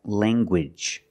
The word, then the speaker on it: language: in the middle and you make the hard G sound like language language you have the